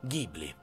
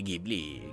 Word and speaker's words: Ghibli: avevo parlato lo studio gibli che che che loro pronunciano gibur e gli americani gibli ma ma siamo in Italia quindi Ghibli Ghibli è il vento